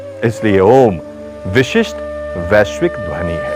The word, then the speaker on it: ओम: के उच्चारण के समय अ मात्रा उ मात्रा में उ मात्रा म मात्रा में विलीन और म मात्रा निशब्द में विलीन हो जाती है उसी प्रकार उपासना